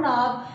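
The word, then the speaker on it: knob: ठीक है, अब उसके बाद नीचे आ जाए जहाँ पे लिखा हुआ है डोर नॉब, यानी कि के को हम साइलेंट पढ़ेंगे तो इसको क्या पढ़ेंगे, डोर नॉब।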